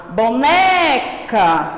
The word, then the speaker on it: boneca: Quando a tia fala a palavra boneca, quando a tia entoa, o né não sai com som maior, então o né é a sílaba tônica.